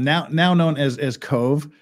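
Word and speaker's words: Cobh: 123 passengers Queenstown now now known as as Cove spelled c o BH because Irish c c o BH is pronounced Cove uh so there is there in Cove Ireland where it stopped to take on the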